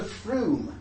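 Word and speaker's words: Frome: they were said to froom froom it's not from-- it's called FRU misspelled like that and that's in Somerset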